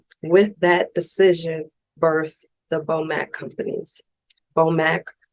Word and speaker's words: BOMAC: BOMAC, 2 syllables, very simple.